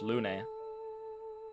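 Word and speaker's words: Lune: It's Lun. You were always there for me. E can be pronounced like an A in some languages.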